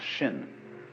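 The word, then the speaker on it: 心: please pacify my mind in Chinese a mind is um this word pronounced shin and shin is here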